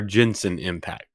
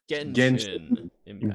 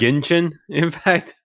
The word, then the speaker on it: Genshin Impact: Genshin Impact or Jensen Impact? Genshin Impact. Genshin Impact.